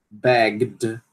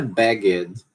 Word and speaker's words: begged: Begged. Begged. Não é begged. Não pronuncia esse E aqui. É begged. Begged. Por quê? Porque é um som vozeado, som final vozeado, né?